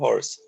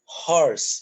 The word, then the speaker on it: horse: que a pronúncia do Horse Horse eu estou aspirando Horse Olha o segundo exemplo